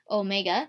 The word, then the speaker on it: omega: looks like a w it's called Omega okay Omega that's how you say it is equal to